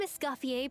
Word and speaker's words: Escoffier: I am Escafier, participier. Be mispronouncing that anymore now that I know. Sorry. Scofier for the for the bad pronunciation.